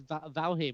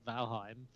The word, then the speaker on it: Valheim: was like oh yeah I've just started playing this Valium and they were like valheim and I was like oh yeah okay that too you've been saying it wrong oh well it's fine